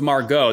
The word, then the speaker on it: Margot: in the BIOS at Margot Margo Margo its Margot there the tea's silent yeah silent T she's fantastic and he's